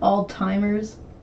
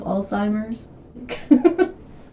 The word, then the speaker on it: Alzheimer's: then actually thinking that's how you're supposed to pronounce it like altimer instead of Alzheimer's it's just she knows she knows better but